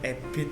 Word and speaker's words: Abid: Dipanggil Abid ini kalau secara nahwu sebenarnya ada itu ya. Itu kan ada bacaan imalah itu ya. Abidin, sedangkan harokat fathah ketika bertemu alif itu kan bisa dibaca secara ejaan. Akhirnya dipanggil dengan nama Abid. Sebenarnya jadi Abidin asalnya dari Abid itu ya, Abidin. Asalnya Abidin. Lalu Abid itu ya, itu akhirnya kena imalah jadi Abid.